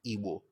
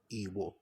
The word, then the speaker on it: Igbo: Often times I tell people who are Igbo that you can actually pronounce Igbo with the low low tone that it has. Low low. Igbo.